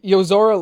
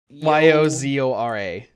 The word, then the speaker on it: Yozora: Yozora looks like he kind of looks He like looks like he Riku.